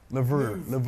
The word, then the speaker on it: Louvre: Louvre. Louvre. Louvre. Well, no, you didn't even pronounce the R. You don't. It's French.